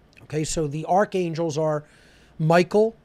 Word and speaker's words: Mikael: Okay, so the archangels are Michael, or if we're pronouncing it the ancient way, Mikael, right?